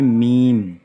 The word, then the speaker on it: میم: تو یہ میم یہ میم، تو اس کا تلفظ بنتا ہے اردو میں میم۔ اور نون کے لیے نون، واو اور نون،